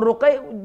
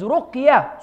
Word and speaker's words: ruqya: The actual word is ruqya. So if you want to spell it, it should be R-U-Q, right? Y-H maybe, Y-A-H, ruqya. Not ruqayya or ruqiyya, so you put double Q, double Y, other words.